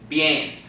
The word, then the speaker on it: bien: But if you run them together, it sounds like what? Yay. Got that? So this word is pronounced bien.